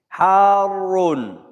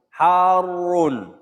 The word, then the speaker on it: Harun: Harun. Harun. Who got to this word? Hot. There are 2 ways to pronounce it. وَكُلُّهَا صَحِيح. And both of them are allowed.